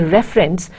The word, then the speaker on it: reference: reference are different now you see refer by putting more accentuated stress on the first sound in the middle but you say reference while putting more stress on this initial sound and that of course gives that accentuated touch to it so you can